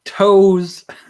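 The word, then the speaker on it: Toews: Toes. It's Toes. Okay, that's how you spell it. It's like just like Brett Favre.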